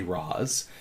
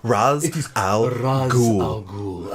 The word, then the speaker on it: Ra's al Ghul: but in Star City they say Roz but it is Ra's al Ghul I'm so I don't